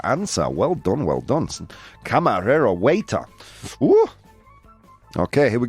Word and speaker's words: camarero: Would you say it for me just so I can repeat your pronunciation? Camarero. Camarero.